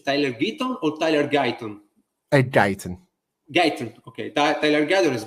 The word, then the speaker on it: Guyton: Tyler, the pronunciation is Tyler Guyton or Tyler Guyton? Guyton.